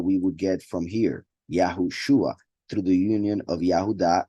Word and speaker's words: Yahushua: you can see that the pronunciation of the name of the Messiah would be yahushua not yahusha as some pronounce it and this is not